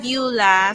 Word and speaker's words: Beulah: and everything goa y so I'm bua So that's how you pronounce my name 25 years old so